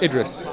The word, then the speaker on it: Idris: Uh can you tell how do you pronounce Is it or Idris? Idris. Idris.